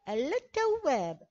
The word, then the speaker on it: التواب: التواب، نلاحظ أن التاء جاءت بشدة ولا ننطق باللام في آل التعريف، لا نستطيع قول التواب. التواب، لا نقول التواب، ولكن نقول التواب، لا ننطق باللام.